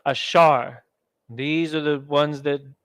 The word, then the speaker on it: Asher: ban the Seminole Indians Asher is pronounced ashar these are the ones